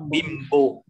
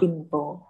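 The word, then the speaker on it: 貧乏: Chữ N thì nó gặp chữ bờ thì mình đọc là bimbo.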